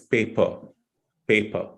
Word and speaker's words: paper: not a paper it's paper paper so p-a-p-e-r again R is not pronounced it's silent so it's paper okay so if when